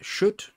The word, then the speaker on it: Kött: want merckborg setting uh it's called Shoot I believe it's how you say it even though it does not look like that at all that's Swedish for meat and this is pay